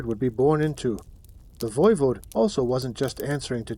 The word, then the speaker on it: voivode: And the ruler of a place like Wallachia, called a voivode, pronounced voivode, which basically means prince